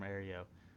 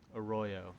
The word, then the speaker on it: Arroyo: My mother is from Aereo." Arroyo, I think is the correct pronunciation.